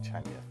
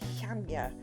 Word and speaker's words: Chania: Well, so really if you talk to a Greek person, they they sort of say Chania. So it's like they try to put the X in Chania.